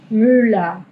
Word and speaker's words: Müller: Esto va a tener el mismo sonido de una sola L, bien, es L. Müller. Acá al final, viste que suena casi como mula.